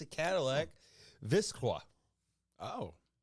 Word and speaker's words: Vistiq: God, We decided a couple grown men fighting over syllables here, but yeah, this is how we've come to we've decided it's called Vistiq.